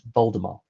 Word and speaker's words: Voldemort: The T is silent. It's Voldemort.